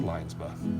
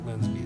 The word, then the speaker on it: Linsby: then he basically worked with Linsby, or Linesby, but Linsby is generally commonly what most people say his name is, and he was an